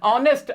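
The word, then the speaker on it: honest: लगाओगे ऑनेस्ट के साथ इसमें भी आवाज वैसे तो एच है लेकिन एच साइलेंट है आवाज ओ की आ रही है वॉवेल साउंड है तो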